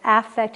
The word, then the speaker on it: affect: effect on his audience i'm exaggerating the pronunciation of affect and effect so you hear the difference lack of affect is